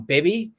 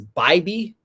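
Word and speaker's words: Bibee: And I think Tanner, and I've been calling Bibby. Apparently it's Bybee.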